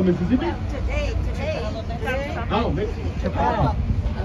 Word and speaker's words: Chapala: Chapala. Chapala. Yeah, we make a really strong pronunciation on the letter A, which for us it sounds like, oh.